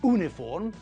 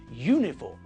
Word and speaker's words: uniform: to say an hour with university uniform and European we pronounce all these words with a year sound at the front it's not university it's University it's not uniform but uniform and it's not European